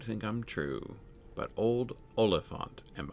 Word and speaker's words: Oliphant: The word Oliphant, right? Which is itself stress, unstressed, unstressed, right? Oliphant.